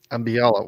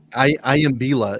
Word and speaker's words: Iambila: Ambiala. Why can't I think of his last name? Iambila is his last name. Iambila. That's why, because you said it wrong.